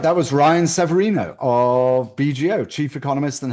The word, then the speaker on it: Severino: But anyway, back to you Ryan Severino. I pronounced your name right?